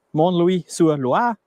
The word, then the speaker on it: Montlouis-sur-Loire: Die stammt aus der Region Montlouis-sur-Loire.